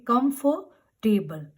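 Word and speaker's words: comfortable: नाउ you will not से टेबल और कंफर्टेबल. Okay. Are word की जो साउंड है आप उसको बिल्कुल अवॉइड करेंगे. You have to ignore are sound. आप उसके लिए वर्ड यूज करेंगे कंफर्टेबल. कंफर्टेबल. कंफर्ट and then टेबल में TBL, ई की भी साउंड नहीं आएगी.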